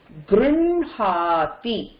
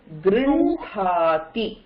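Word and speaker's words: गृह्णाति: Similarly, இந்த ஹகாரோட anna போட்டதுன்னா, even though it is written as h with ண, you don't pronounce it like that. You pronounce it as Grinhati. Grinhati.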